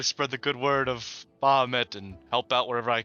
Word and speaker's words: Bahamut: Bahamut, right? That's how you say it. Yeah, Bahamut.